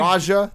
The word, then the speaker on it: Raja: How do you mean you Raja the Rascal.